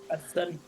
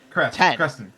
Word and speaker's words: Cresten: Crestston. Preston. Crest. Crestston. Crest like the toothpaste. Crest 10. The number 10.